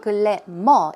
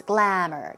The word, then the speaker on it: glamour: It's not glamour, it's glamour, glamour. 2 syllables, glamour.